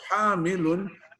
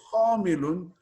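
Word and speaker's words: حامل: So hamilun is to carry means it's ha. And to if you say khamilun, then it's inactive, it means completely different.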